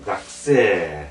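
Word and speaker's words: がくせい: 학생은 이제 각 어이 학이 아니지에 각이죠 각세 이렇게 각세 되서 역시에 각세 이렇게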